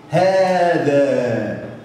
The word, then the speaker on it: هذا: حذفت الالف، حذفت الالف لكن تنطق. دي من الكلمات التي بها حروف تنطق ولا تكتب.